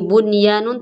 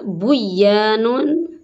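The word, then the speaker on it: بُنْيَانٌ: Ini bunyanun tulisannya tidak boleh dibaca buyanun.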